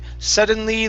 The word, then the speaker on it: suddenly: Okay, now you're adding an N right before the D. You're saying sudden. All right, so instead of sudden, it's sudden.